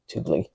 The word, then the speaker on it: Thule: And that absolutely is Thule, because I've got a Thule in my garage right now. It attaches to my bike and I put my kids in it, and that's how you pronounce it, Thule.